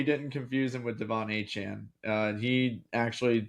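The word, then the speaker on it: Etienne: But no, it's it's it's actually Travis Etn who we've pronounced his name that way for his entire career. Uh but it's been wrong. So it's hn. Apparently like the tie e kind of creates like a ch sound.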